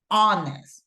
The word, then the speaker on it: honest: Remember, even though we have the H, it's silent, right? No pronunciation. And we say honest, right?